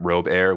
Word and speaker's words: Robier: I pronounce it Robair, which is kind of gross to think about, but I just got it. Oh my god. It's my name. My name is Robert, but it's, you know, the French pronunciation of my name, so it's Robert.